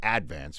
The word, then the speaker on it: Advance: Staten Island Staten Island Advance because we put the accent on the first syllable on things in Staten Island it's not the Staten Island Advance the advance yeah so